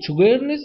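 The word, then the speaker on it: Sjögren's: اسمه شوجرنس سيندروم. شوجرنس سيندروم ده اللي هو النطق بتاعه، ده اسم المرض اللي هو جفاف الفم وجفاف العين.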